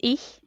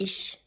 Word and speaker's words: ich: In German, I is ich, and it's like this. Maybe I'm not even pronouncing correctly, but something like this. And this guy said ich all the time. Ish. Like sh.